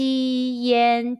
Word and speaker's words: yan: repeat after me chi yen chin chin tin tin chin is thousand in chinese question when you see y-a-n and i-a-n in ping-ing how would you pronounce it the answer is yen are there any topics